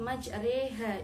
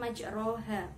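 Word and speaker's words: مجريها: kasroh terus pada lafadz majreha itu adalah bacaan imalah imalah adalah membaca condong antara farhah dengan kasrah cara membacanya yaitu majreha bukan majroha terus selanjutnya pada lafadz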